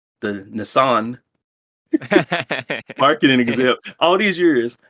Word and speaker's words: Nissan: The Nissan marketing exec. All these years, I thought it was Nissan.